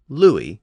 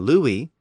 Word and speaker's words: Louis: But when the letter U appeared before another vowel, like in Louis, it was usually pronounced with that W sound.